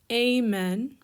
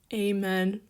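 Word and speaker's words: ἦμεν: then first person plural you have amen not amen like in english but ada mu epsilon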